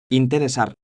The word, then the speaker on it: interesar: Interesar. Signifie intéresser. Vous avez correctement utilisé la structure indirecte. Faites attention à la prononciation de interesar. L'accent tonique est sur la deuxième syllabe.